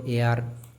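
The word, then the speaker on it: heir: তারপরে দেখো এয়ার, এখানে এইচ সাইলেন্ট রয়েছে, উচ্চারণ কোথা থেকে হচ্ছে এখান থেকে এয়ার, সেজন্য তার আগে হয়েছে অ্যান।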